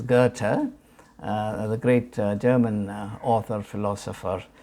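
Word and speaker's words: Goethe: the the life of Getty the the correct the German pronunciation is Gerta the great German author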